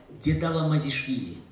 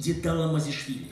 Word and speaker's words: Дедала Мазишвили: Внимание, я вам научился с годами произносить его фамилию. Дедала Мазишвили. Дедала Мазишвили.